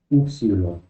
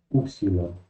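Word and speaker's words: ύψιλον: es yilon otra vez este nombre es del griego moderno la pronunciación antigua va a ser upsilon y esa es la pronunciación que vamos a usar en esa clase upsilon sonido es u un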